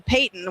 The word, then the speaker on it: Peighton: And then Payton, which is spelled a little funny, is Peighton. So like Leighton, but with a P.